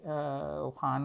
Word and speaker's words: Khan: Khan, you can say Khan also rhymes with ran and man.